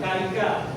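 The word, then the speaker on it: carica: Ditulisnya karika, tapi dibacanya karika, ya.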